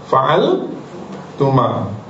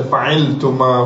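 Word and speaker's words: فعلتما: Kalau kamu berdua macam mana fa'ala ambil wazan pertama fa'altuma fa'al tuma. Jadi tuma tu ditambah di hujung bacanya fa'altuma. Tak boleh baca fa'iltuma.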